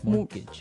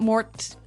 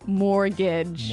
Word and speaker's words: mortgage: with a t yeah it has a t in it but you don't pronounce it you say mortgage morgage so not Mort mortgage not mortgage morgage mortgage yeah I had